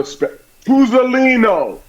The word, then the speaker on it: Tuzzolino: I'm sitting in for my man, Sal Tuzzolino, and we're going to have a Tuzzolino. I have to pronounce every vowel.